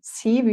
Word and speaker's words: Siw: I usually say to people that if you want to pronounce my first name, Siw, you have to think of Steve and then remove the T, and then you will get it, because people always get confused with the W in Siw.